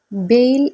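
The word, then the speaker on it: bale: ഇതുപോലെ തന്നെ നമുക്ക് വായിക്കാം അതായത് ഇ ക്ക് അവിടെ ഉച്ചാരണം വരുന്നില്ല അതായത് ഇത് വായിക്കേണ്ടത് ബെയിൽ എന്നാണ് ബെയിൽ പറഞ്ഞു നോക്കൂ ബെയിൽ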